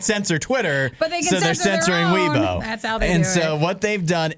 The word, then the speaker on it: Weibo: social media site called you know how to pronounce it i think it's weibo but it's basically their twitter right so they